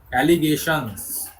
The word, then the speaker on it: allegations: The more he TIONS, TIONS, উচ্চারণ হবে Shaan's. SH এর উচ্চারণটা হবে অ্যালিগেশনস।